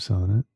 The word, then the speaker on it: Sonnet: A Song of Sonnet? Is that your first gifted sub around here? Thanks so much, A Song of Sonnet. It's pronounced sonnet, by the way.